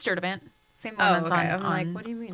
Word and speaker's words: Sturtevant: maiden name super long nobody knows how to pronounce it what is it it's it's stur event same one on do mean on Facebook yeah